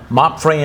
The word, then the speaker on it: MAPFRE: They are from MAPFRE Insurance.